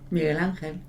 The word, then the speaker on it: Miguel Ángel: So we have a quote here from Michelangelo, as he's pronounced in English. Mm-hmm. What do you call him? Miguel Ángel.